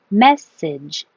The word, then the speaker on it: message: Passage, massage, message, and this goes back to stress on the first syllable.